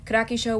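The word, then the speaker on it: Kirakishou: um yeah that's how you say her name karaki show was my number one favorite character and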